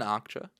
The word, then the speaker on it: Okja: She's good in Okja. I haven't heard that. Is that how you pronounce Akcha.